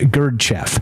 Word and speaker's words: Gurdjieff: developed by the Russian philosopher and Mystic George gerf in the early 20th century that's link is